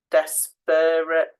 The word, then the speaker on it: desperate: that e frightening frightening desperate so the e in the middle desperate we don't say it like that but you need to make sure that you have got it that you remember that when you're spelling and the same with